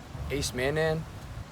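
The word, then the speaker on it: acemannan: It contains a chemical, a property called ace-mannan. Ace-mannan? Ace-mannan. You spell it like A-C-E-M-A-N-N-A-N. Ace-mannan.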